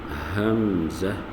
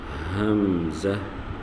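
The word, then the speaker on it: همزة: The first is Hamza, Hamza, and the second Ha, Ha. Will pronounce from bottom of the throat nearest to chest, nearest to chest.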